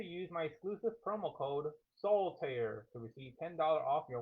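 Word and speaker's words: Soltaire: Soul tear. Two words, two syllables. S O L T A I R E. Don't forget to use the promo code soul pair. It is not solitire. It's not that card game. Remove the eye.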